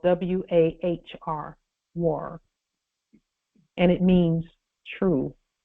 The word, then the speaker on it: wahr: War, and they pronounce it wahr, means truth.